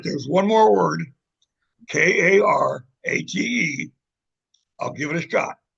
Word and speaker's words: karate: Kar I couldn't get the I never rolled an R in my life. Karate. So I finally learned how to say it.